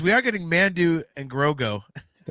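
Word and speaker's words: Grogu: He says we are getting Mando and Grogo.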